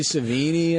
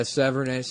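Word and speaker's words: Sevigny: Because I always thought it was Chloe Savini. I guess it's like Severnay, maybe? yeah, Severnay.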